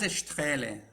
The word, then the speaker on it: Straehle: En alemán es Strele, pero no te preocupes. Es decir, si me dicen Strele o Straele, me giro.